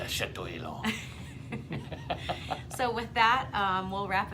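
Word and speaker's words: Château Élan: You have to say it like you're French. Like you're French. It's Chateau Elan.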